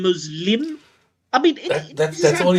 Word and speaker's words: Muslim: So, he's talking about the emphasis on the first part of the word. So, he's saying Muslim rather than Muslim.